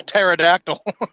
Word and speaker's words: pterodactyl: So, why it's a pterodactyl. Pterodactyl. I can understand why Justin's trailer has a P in front of it, but I'm not sure why pterodactyl does.